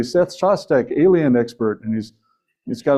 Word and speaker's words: Shostak: I introduced him as Dr. Seth Shostak, and then he says, yes, my name is Shostak.